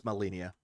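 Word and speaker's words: Malenia: keep forgetting the fucking name and how it's pronounced. Burning in my studio here. Snudio? Malinia. Okay, it's Malinia.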